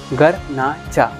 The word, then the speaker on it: Garnacha: date इस करना अच्छा तो उसको हम लोग प्रोनाउंस करते हैं घर ना कर घर ना जा घर ना जा तो